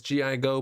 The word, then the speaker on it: Gigo: to answer them friends my name is gi go put it together and it is pronounced gigo and in this video